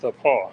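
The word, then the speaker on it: The Pas: So it's pronounced the Paw.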